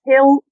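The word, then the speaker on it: Hell: Uh in Estonian, it's pronounced as Hel, which means gentle wolf.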